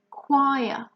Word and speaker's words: choir: one its strings choir now here in the pronunciation is a bit strange the first sound is good okay and then you have wah wah okay choir and the last sound